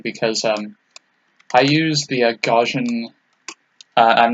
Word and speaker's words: Gaussian: I got all oh it's gauss gaussian gaussian gotcha it's like I knew that but I didn't know it was pronounced in the same way I figured it was just spelled the same also crap it's on